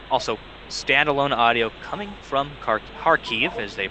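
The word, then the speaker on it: Kharkiv: five minutes uh also standalone audio coming from harkeef as they pronounce it been trying to get better at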